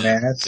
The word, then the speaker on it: Tomaz: It's Tomaz. I'm missing an Tomaz? Yeah, it's Tomaz. Tomaz, that's nice. I like that. I'm going to name my next kid Tomaz.